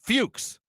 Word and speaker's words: Fuchs: Hard C. Fuchs.